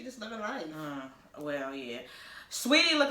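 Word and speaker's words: Saweetie: Like the messy bun with the just Sweetie is I know I'm saying her name Sweetie because that's how it's spelled.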